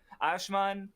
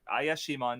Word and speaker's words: Ayashimon: But yeah, anyway, Ashman is kind of, let me pronounce it right. Ayashimon, yeah, that's okay.